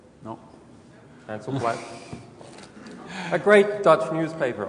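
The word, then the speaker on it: Handelsblad: uh this is the front page of NRC Hansel blad is my pronunciation correct no Hil blad a great great Dutch newspaper I hear um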